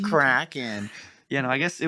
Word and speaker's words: Kraken: It's Norwegian. It's pronounced Kraken.